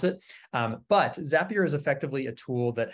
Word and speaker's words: Zapier: different ways, is that their tagline is Zapier makes you happier. So that's how, I believe that's how you're supposed to pronounce it. But Zapier is effectively a tool